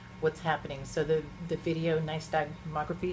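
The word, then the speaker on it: videonystagmography: So the the video niceography, is that how you say it? Correct. Video nice.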